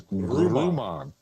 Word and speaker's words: Grumman: So it's a German history for that area, and it seems that the German engineering, the correct pronunciation of the company that built the lunar module is Grumman.